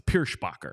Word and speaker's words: Pierschbacher: uh he is tough tough name to pronounce Pier spacher you got because you got to get the sh in there the sh yes Ross no s no h sound but then you got